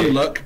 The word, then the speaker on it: lewk: Okay, so that's a look, but it's spelled Lewk.